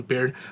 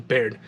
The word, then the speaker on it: Baird: I think that's why I started calling him Beard. But he, you know, Marcus always calls him Baird. So, I don't know, that's kind of up there. Baird, I mean, it looks like it's spelled like Baird.